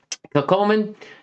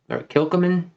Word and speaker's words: Kilchoman: But Kilchoman, or Kilchoman, depends how you want to pronounce it.